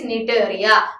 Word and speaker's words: Cnidaria: In cnidaria, C is silent there. Okay, it is cnidaria.